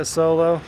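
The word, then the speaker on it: Asolo: is a solo so that's how i've always said it a solo if you have a different pronunciation for that good on you but i'm going to call it a solo italian-made boot it's a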